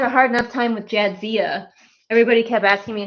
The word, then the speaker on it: Jadzia: Man, the vet had a hard enough time with Jadzia. Everybody kept asking me how to pronounce Jadzia's name, and I'm like, it's like it's spelled.